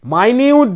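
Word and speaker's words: minute: ইন মাইনিউট detail দেখ এখানে কিন্তু অনেকে মিস্টেক করে ফেলবে প্রনান্সিয়েশন এর ক্ষেত্রে মিনিট বলে ফেলবে কারণ মিনিটেরও স্পেলিং তো একই এম আই এন ইউটিই এটা মিনিটে উচ্চারণ হয় আবার মাইনিউট উচ্চারণ হয় দুটোর মধ্যে পার্থক্য কি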